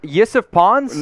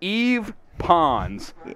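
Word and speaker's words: Yves Pons: Yusuf pawns? No, we'll reveal it here. It's Eve pawns. Eve pawns. That is the pronunciation there.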